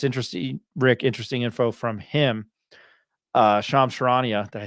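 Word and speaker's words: Charania: Sharania. Sharania. I butchered it on the show.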